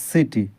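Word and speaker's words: city: সি আই টি ওয়াই এখানে সি এর উচ্চারণ কি হবে স হবে না ক হবে এখানে হবে সি এর পরে যেহেতু আই আছে সি এর পরে আই থাকলে সি এর তাহলে এটা হবে সিটি নট কি আরো উদাহরণ নিতে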